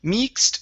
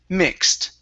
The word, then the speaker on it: mixed: So this word here is mixed with the T sound at the end. Mixed. Okay, give me a short I instead of mixed. It's mixed. Mixed.